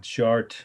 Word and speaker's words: Chartres: Chartres, I'll spell it again, is Chartres.